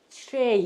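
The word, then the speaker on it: tray: 근데 요 T 발음 어떻게 하라고 그러셨어요? 트레이가 아니라 트레이 이렇게 하셔야 된다. 트레이. 마치 치읓 소리가 있는 것처럼. 그렇다고 치읓 발음으로 하면 트레이가 돼요. 트레이. 근데 그때는 혀가 입천장에 안 닿아요. 반드시 혀를 입천장에다 대고 목구멍 쪽으로 끌어가면서 이렇게 발음하는 거예요. 그래서 트레이 이렇게 돼.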